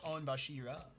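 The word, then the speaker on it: 御柱: Make making the uh onbashira onbashira because I I I now know on how to say it right because everyone was pestering me because I was saying it wrong. Is on. No, it's onbashira.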